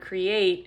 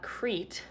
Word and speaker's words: create: One way that I know that the word create is not Crete, it's not EA coming together as a vowel team Crete, is I have this